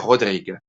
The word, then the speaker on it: Rodrigue: Se escribe casi como Rodríguez, pero sin la Z al final. Se pronuncia Père Rodrigue, en el cual la